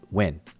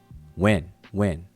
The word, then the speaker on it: wn: And as you can see it on my cursor right there, WN, we would transliterate it as WN without the vowels, but we would pronounce it when.